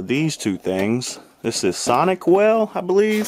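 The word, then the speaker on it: SonicWall: This is Sonic Well, I believe. Sonic Wall, that's how you say it.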